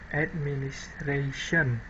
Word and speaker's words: administration: So, for example, when the word administration is said in isolation, or the end of the sentence syllable of ra is pronounced with greater force than syllable at, that is transcribed as administration.